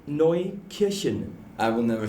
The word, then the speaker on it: Markneukirchen: Markneukirchen. I will never say that ever. I'll never get it right. Say Mark. Mark? Yeah. Neu. Neu? Kirchen. That's the one.